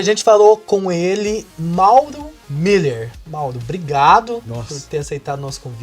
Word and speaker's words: Mueller: Então, @Mauro Miller, se escreve Mueller, que nem um shopping, né? Mueller com 2 L's.